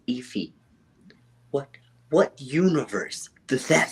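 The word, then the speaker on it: Aoife: anymore so okay look iffy the name is spelled ioi f e if I'm correct all right you're wrong a-o-i-f-e that that's iffy what what Universe does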